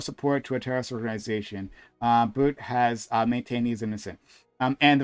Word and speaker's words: Bout: This merchant death guy, his name is Victor Bout. But I'm sure it's pronounced something different. Bout, excuse me.